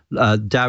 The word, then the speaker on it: DAO: good summary of it Dow is spelt Dao it's an acronym standing for decentralized or autonomous organization and